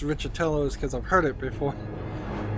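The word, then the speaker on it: Riccitiello: years ago this month the EA CEO John richardelli Tello that's r-i-c-c-i-t-i-e-l-o and the only reason I can tell you it's pronounced richatelos because I've heard it before uh eaco gets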